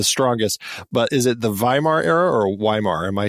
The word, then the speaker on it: Weimar: but is it the Weimar era or Weimar? Am I saying it wrong? Yes, it's a V sound at the beginning of the name, yeah. It's a V. Okay, Weimar.